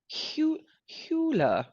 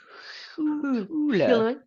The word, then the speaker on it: Huwiler: Huwiler? Huwiler. She is Swiss. So there's a lot of letters, and it's not pronounced the way it looks. Anna Huwiler.